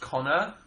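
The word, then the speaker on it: Conchobhar: But yeah, anyway, he called his son, I think it's pronounced Connor, but spelt in an Irish way, in that it's spelt Concho Bar, which is pretty cool, actually.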